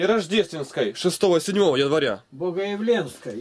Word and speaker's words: Богоявленской: Богоявленской, Е, ударение.